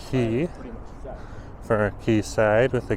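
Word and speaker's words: Quayside: key side Marina they do spell key for key side with a q u a y old British terminology but pronounced and very much in the same way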